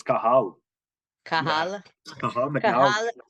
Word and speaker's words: Cathal: It's a silent T. So Cathal. Cathal. It's Cathal.